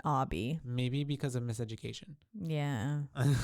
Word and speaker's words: Obi: spelled Obi. Obi, yeah, right? That's why I was like Obi, but it's Obby. But he pronounced it Obby.